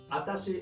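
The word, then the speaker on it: あたし: Well, atashi is not wrong, but watashi is the correct word.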